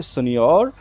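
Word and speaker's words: signor: वाला जो आ number second पे आपका इसका प्रोनाउंसिएशन ध्यान से देखना है। सियोर सियोर जेंट्स को बोलेंगे सिनोर और लेडीज को सियोरा सियोर एक्चुअली इटालियन वर्ड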